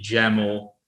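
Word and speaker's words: YAML: the official documentation of jammel they always like to add the jamal rhymes with camel part behind their name um so i found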